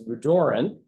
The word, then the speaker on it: Rorin: is Jody rorin and please pronounce her name correctly because I often get it wrong it's roran and Jody and I